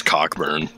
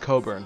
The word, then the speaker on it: Cockburn: his name is max cockburn no no no it's pronounced coburn it is coco well